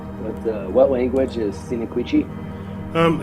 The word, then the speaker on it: Sinicuichi: For a long time, I used to call it Sinicuichi and Heimia salicifolia, but I've learned how to pronounce those correctly. It's Sinicuichi and Heimia salicifolia.